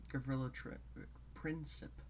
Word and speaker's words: Gavrilo Princip: I, for the pronunciation, I looked up the Slavic transcription of the name. And that's why I pronounce it Gavrilo Princip.